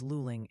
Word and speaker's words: Luling: Lowing is Luling.